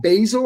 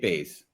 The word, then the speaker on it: Bays: Kate Basil, I believe is how you say it. How to be agile to get success. Kate Bays. There's no L there.